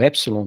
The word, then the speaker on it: epsilon: Eu tô fazendo aqui a correlação fonética do epsilon, que se pronuncia como um E com acento agudo, e do ômicron, como se pronuncia com um O com acento agudo.